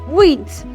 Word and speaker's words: wheat: There's no word H because my H is what? Silent in its word pronunciation.